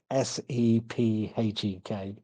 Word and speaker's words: Sephek: A gentleman by the name of Sepek, and I can pronounce that, is Sephek.